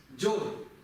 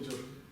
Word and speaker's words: སྦྱོར: Так, как он читается? Я уже прочел, зря я это сделал. Джа. Вы уверены, что джа? А вот это зачем тогда я написал? Зачем писать вот это, если оно все равно будет читаться джа в любом случае, с ней или без нее? Нет, с этой будет джо. Джо. А вот это что это? Это ра. А вместе? Джор.